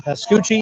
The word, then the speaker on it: Pascucci: Pascucci. Is that how you say it? That's Gucci. Leave it to the Italian, right? Yes.